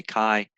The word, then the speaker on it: chi: chi square yeah uh it's pronounced with a hard k kai uh certainly i i